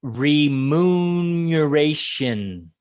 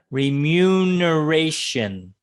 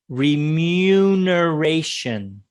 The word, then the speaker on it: remuneration: repeat it for you it is re-moon duration okay i'll give it a better pronunciation the second time remuneration okay the mu comes as a yeah yeah remuneration okay i'm going to